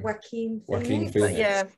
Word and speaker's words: Joaquin Phoenix: I don't know if you've ever seen The Joker with how do you pronounce his name? Joaquin Phoenix.